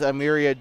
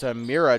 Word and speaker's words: Amiria: check the game is amiria dukes and Paige Jones Hannah Ward and uh Logan Ferrell headed off the court by the way it is a Mira Dukes I apologize that's how you pronounce it I apologize for that